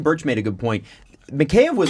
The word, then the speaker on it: Mikheyev: people keep calling macaé I'm gonna call them mikheyev cuz I think that's how you actually pronounce it I'm listen I had a Russian tell me it's McKay okay so okay until I'm